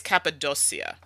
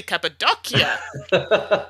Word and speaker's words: Cappadocia: has one c because if it's two c's i believe it's like a ch sound in italian i'm gonna say it's cappadocia we're gonna go with that it has a double k in the pronunciation on the back oh so i was wrong completely cappadocia what part